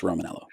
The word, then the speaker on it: Romaniello: The I is silent, just Romaniello.